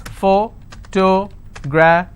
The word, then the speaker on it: photography: Photography. How many syllables? Photography. So this is my ending. I will stress here.